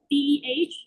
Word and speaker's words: de: The locative copula, spelled DEH or DE, pronounced de, came from Igbo.